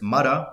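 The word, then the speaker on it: مَرَة: And then she says, the woman, notice the difference, mara, woman, marra, time as an instance, marra ala marra.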